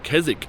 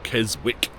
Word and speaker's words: Keswick: A beautiful region, and yeah, that's all I can bang on about with regards to Keswick, or Keswick as it is spelt, as I said before.